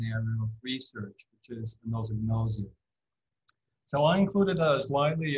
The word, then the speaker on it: anosognosia: to Katie, I think the first announcement was anosognosia, which is something that sometimes people spell that way, but it's probably not the most correct spelling. So the most correct spelling is anosognosia, which comes from Greek, of course.